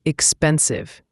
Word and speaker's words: expensive: And expensive has the stress on the second syllable. Expensive. Make sure the V sound is clear, like a buzzing sound.